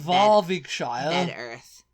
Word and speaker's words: Bedworth: Earth yeah involing sh so bedworth is bed Earth um but yeah and